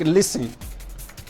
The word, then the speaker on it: listen: silent some words like listen now mind you you don't say listening because the t is silent you say listen you pronounce this you